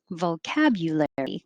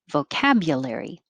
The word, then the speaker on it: vocabulary: so row three vocabulary vocabulary with a u would be very correct and more casually changing you to ya vocabulary vocabulary and you could also